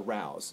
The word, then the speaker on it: Rao's: of the restaurant is rayo's restaurant it's spelled r-a-o-s it's rail's restaurant or rouse depending on how you say it we're going to go with rayo's today and it's an institution